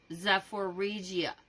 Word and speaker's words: Zaporizhzhia: That's how it's pronounced. And Zaporizhzhia. I don't know how to say that either. Hold up. Zaporizhzhia regions amid extreme winter conditions.